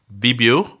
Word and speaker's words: Vibeoo: of looked that down so it's bibio but it's spelled like Vibe so it's v-i-b-e double